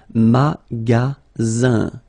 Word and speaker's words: magasin: And then the ending here is I-N, so it's nasal, goes in your nose, and it's un. Magasin.